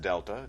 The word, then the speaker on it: delta: That triangle, which is pronounced delta, just a a Greek letter that means change.